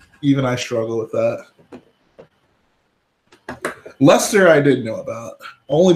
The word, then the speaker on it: Leicester: though I whoa even I struggle with that Lester I didn't know about only because of the